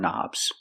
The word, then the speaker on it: knob: buttons and you turn knobs we see the word knob has a k and the K is silent don't pronounce the k start with the n Sound knob one knob two